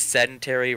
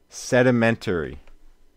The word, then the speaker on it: sedimentary: that's Cemetery wait no how do you pronounce it sedimentary we forgot the DI it's sedimentary PC2 oh nice yeah